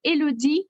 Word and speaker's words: Eloide: Well, you pronounce it Eloide, but it's fine.